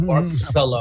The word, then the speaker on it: Barcelona: Yeah, Barcelona. That's how you say it. Because they get a C as a TH in Spanish language.